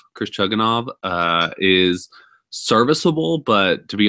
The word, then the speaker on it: Chugunov: The backup quarterback for West Virginia, I believe it's pronounced Chugunov, Chris Chugunov, is serviceable, but to be honest, he is probably not ready for this offense, for this kind of level of competition.